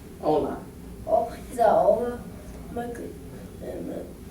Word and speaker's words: hola: So it's hola. Hola. The H is silent. It's hola.